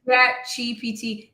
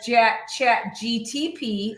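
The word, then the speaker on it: ChatGPT: He's gonna He messes me up because he says J chat GTP every freaking time. I'm like are you verbally dyslexic because you say it wrong?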